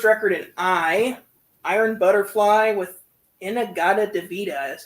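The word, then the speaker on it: In-A-Gadda-Da-Vida: Um, and we got the first record in Iron Butterfly with Inagada Devita is how you say it.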